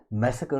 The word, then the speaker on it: massacre: मैसेकर देखिए क्या होता है, MASSACRE, ये होता है मैसेकर. ठीक है, मैसेकर, आर को यहाँ पर साइलेंट रखा जाता है.